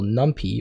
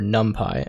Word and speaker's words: NumPy: guys how to use the module Numpy, or NumPy, I believe that's how you say it, NumPy, within Python.